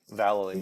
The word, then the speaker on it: Vallely: Vallely? Valley, yeah.